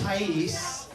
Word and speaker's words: Thais: Her name's a bit tricky, but it's pronounced Thais.